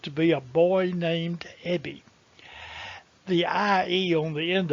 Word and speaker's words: Ebbie: course first and foremost my name really is ebby and it really is spelled e-b-b-i-e do you remember a song that